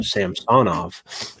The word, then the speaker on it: Samsonov: Can't say Samsonov. You have to actually pronounce his name correct now, Samsonov.